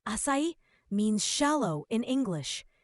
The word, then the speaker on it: 浅い: A word asai, pronounced asai means shallow in English.